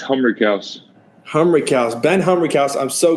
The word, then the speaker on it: Humrichous: It's Humrichous.